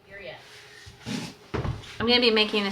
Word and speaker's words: birria: But I'm making a bilya. That's not how you say it. Dad. Okay, birria.